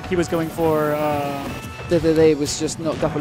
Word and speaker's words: Dedede: I have just realized that I'm using the Japanese pronunciation of DDD. In Japanese we call him Dedede.